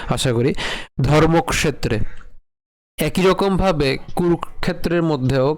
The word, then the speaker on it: কুরুক্ষেত্রে: করি ধর্মক্ষেত্রে একই রকমভাবে কুরুক্ষেত্রের মধ্যেও কি রয়েছে তাহলে এখানেও একই রকমভাবে কয় উচ্চারণ আমরা আগে করব। এরপর হচ্ছে মূর্ধনসকে নিয়ে আসবো। তাহলে উচ্চারণ কেমন হবে? কুরুক্ষেত্রে।